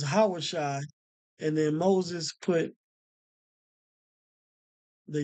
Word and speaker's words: Yahawashi: so going back to the correct pronunciation or the correct uh the correct name right where it took you to yahawah Shai is not yahawah Shai because that's not Joshua's name his original name was yahawashi and then Moses put